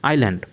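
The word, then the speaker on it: island: হচ্ছে দ্বীপ অনেকে এটাকে ইজ ল্যান্ড উচ্চারণ করে কিন্তু এটা ইজিল্যান্ড সম্পূর্ণ ভুল উচ্চারণ এখানে এস সাইলেন্ট থাকবে আইল্যান্ড তাহলে এই লাইনটার মিনিং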